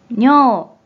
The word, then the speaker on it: 尿: 먼저 뜻으로는 발음이 없고 음으로만 뇨, 뇨, 라고 길게 발음해줘요. 그럼 먼저 음동어휘부터 몇 가지 소개해 볼게요.